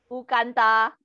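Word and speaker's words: 乌干达: Ukanta.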